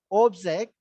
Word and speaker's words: object: When you say it as a verb, you say exact, Yes, sir. right? Exact means refuse. But if you stress O, object, it means it's a thing. So if you stress the first syllable, it functions as a noun. If you shift the syllable from first syllable to second syllable, it functions as a verb or an adjective.